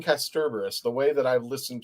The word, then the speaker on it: Kasterborous: Kasterborous. Thank you. There you go. That's an ER there. It's an A. Kasterborous. So for those of you who've been saying Kasterborous, the way that I've